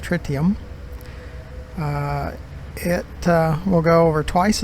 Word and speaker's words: tritium: five percent less tritium as the frontier says it should be pronounced tritium it will go over